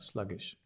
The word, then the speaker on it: sluggish: is the same right sluggish stress on the slug sluggish um sluggish no energy